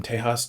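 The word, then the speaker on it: Tejas: Uh I looked up kind of how like we got from Tehas to Texas and basically like English speakers just sort of screwed up the pronunciation and it stuck.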